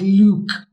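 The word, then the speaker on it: Lugh: about Leo earlier right it's l-u-g-h yes and outside of Ireland people struggle with the soil of GH and that may be pronounced a bit more like Luke yeah right so this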